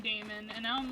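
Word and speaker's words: daemon: Most people tend to pronounce Damon nowadays as Damon to differentiate between the two. Yeah! Yeah, see, I was calling it demon.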